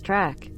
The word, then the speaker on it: trac: In Romanian, Dacian is dak, pronounced like the English duck, and Thracian is track, pronounced like the English truck.